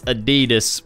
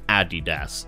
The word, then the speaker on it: Adidas: Adidas product placement and before someone corrects me saying it's Adidas where I'm from it's pronounced Adidas so yeah deal with